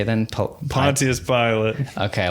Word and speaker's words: Pontius Pilate: Pontius Pilate.